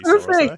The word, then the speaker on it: SaraSai: Correct me if I'm pronouncing that That's incorrectly, SaraSai.